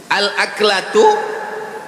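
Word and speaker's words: الأكلة: Al-aklatu bifathil hamzah, cara membacanya hamzahnya baris atas, a.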